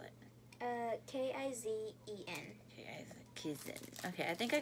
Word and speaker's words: Kizen: How do you spell it? K-I-Z-E-N.